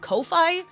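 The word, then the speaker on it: Ko-fi: you pronounce it because I pronounce it coffee because the logo is a coffee cup but everyone keeps telling me it's pronounced Kofi there's a coffee cup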